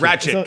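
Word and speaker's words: Rakić: Ratchet.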